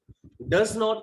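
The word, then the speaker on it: doesn't: डज नॉट को हम short में बोलते हैं डजन, बोलते हैं डजन, टी का साउंड हल्का सा बोलेंगे, लाइटली प्रोनाउंस करेंगे डजन।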